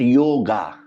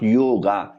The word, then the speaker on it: yog: one so you see when we write the yog in English language technically we have to add the a but a is silent there because many people are not really well trained uh in the language so they they read it yoga it is not yoga it is yog like when you write